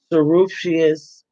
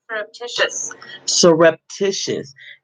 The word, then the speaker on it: surreptitious: without their consent or knowledge, were subject to surreptitious.